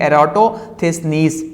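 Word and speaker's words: Eratosthenes: ये एराटोथेसनीस, इसको हम यूं प्रोनाउंस करेंगे एराटोथेसनीस।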